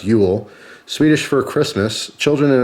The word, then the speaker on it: Jul: it says during Jewel jul pronounced Ule Swedish for Christmas children